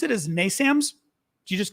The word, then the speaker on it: NASAMS: guys have to tell me, how do you pronounce it as NASAMS?